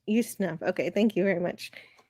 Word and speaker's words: Ustinov: Oh, Yeah, I think it's pronounced Ustinov, yes. Ustinov.